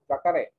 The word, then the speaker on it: jacaré: Jacaré.